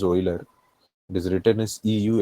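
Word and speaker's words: Euler: It is pronounced as Oiler.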